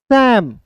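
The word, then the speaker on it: Sam: Named सैम। देखिए इसे साम नहीं पढ़िएगा दोस्तों।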